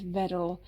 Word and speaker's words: Wedel: And these bad boys are by Wedel. Yeah, it's spelled with a W, but it's a Polish brand. So you pronounce it with a V, so it's Wedel.